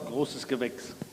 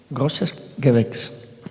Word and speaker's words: Großes Gewächs: ¿Y cómo se dice en alemán? Großes Gewächs. Großes Gewächs.